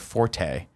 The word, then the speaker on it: forte: stuck with me was the word forte is not pronounced that way. It's actually Yes. fort.